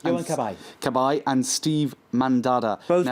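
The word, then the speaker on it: Cabaye: evening, Mark, there was Yan Cab, is that correctly pronounced? Yan Kabay.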